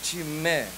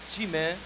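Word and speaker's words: τιμή: A palavra grega para honra é timé, que numa tradução bem simples quer dizer valorização. Quando se pronuncia no grego timé, logo se pensa em algo muito valioso, precioso, algo de peso, tal como o ouro.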